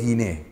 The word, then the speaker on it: Guiné: mujer, en griego es Guiné. Entonces se pone Guiné. Ahí Guiné. Nace Guiné, con acento en la E, Guiné.